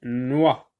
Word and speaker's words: noix: Une noix, donc X ici ne se prononce pas.